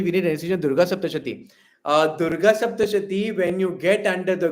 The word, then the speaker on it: Durga Saptashati: Durga Saptashati, when you get under the Guru, it changes.